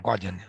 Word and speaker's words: Guardian: Guardian, like the newspaper, Guardian.